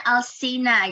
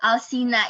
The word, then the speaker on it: Alceena: Alsina, maksudnya Alsina gitu. Agak penekanan-nya lah ya. Oh, cara bacanya Alsina gitu ya? Alsina, iya benar.